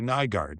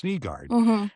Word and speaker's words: Nygard: And some of our reporters in Detroit still when they ask the question will say Nygard. Well, it's Niggard.